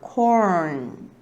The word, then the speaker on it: corn: 그래서 여러분 발음들이 뭐 콜느, 콜은 이렇게 되신 분들 많을 텐데 한 번에 붙여줘야 돼요. 이렇게. 그래서 발음이 리을, 니은 발음을 다 내줘야 돼요. corn 이렇게 발음이 되는데요.